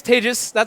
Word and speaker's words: Tejas: Anyway, my name is Tejas, pronounced like contagious.